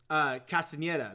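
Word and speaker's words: Castañeda: Castaneda, that's how you say it.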